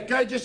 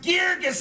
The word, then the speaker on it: Burgess: Get away from there, Burgess. I ain't talking to you except through a lawyer. My name's pronounced Geergis, and I want to talk to you right now.